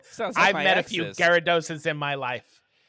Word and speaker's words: Gyarados: I I'm sure I'm pronouncing this wrong, but it's Guyados. Guyados. No, that was perfectly perfectly fine. Oh, um actually it's the evolved Gyarados.